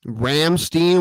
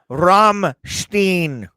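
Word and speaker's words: Rammstein: which was interesting cool uh but you know ramstein was an answer on um jeopardy the other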